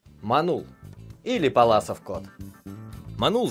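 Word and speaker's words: Паллас: на борьбу ходил А паласов кот называют потому что в 1776 году Пётр Симон Палас был первым кто описал ударение на А не перепутайте вот этого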